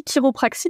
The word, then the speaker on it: chiropraxie: sommes tout oui alors la chiropraxie donc on chiropraxie mais en effet ça s'écrit chi c'est une profession de